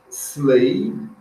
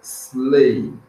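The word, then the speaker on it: sleigh: a Estrela aqui embaixo slay Observe que o g h aqui não é pronunciado é muto só pronuncia aqui ó slay é tem umas palavrinhas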